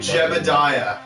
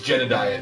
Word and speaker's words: Jedediah: will guess my name Jebediah nope Billy and it's Jedediah there's a d what is it like